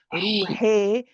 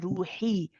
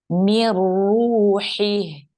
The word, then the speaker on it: روحه: make sure, yes, but make sure you're pronouncing the kasra. I don't want to hear ruhi, I want to hear ruhi. Mir ruhi. من روحه. That's better. Barakallah fiki.